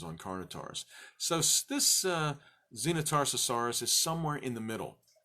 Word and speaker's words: Xenotarsosaurus: the little ones on carnot ours so this Xena Tarsus horas is somewhere in the middle so it was very important that we get the pronunciation correct for you guys Xena Tarsus horas